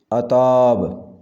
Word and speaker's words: عتاب: عشر عشیر، عشر عشیر۔ عتاب اس کا صحیح تلفظ ہوگا عتاب، عتاب۔ ظہور، صحیح ادائیگی ہوگی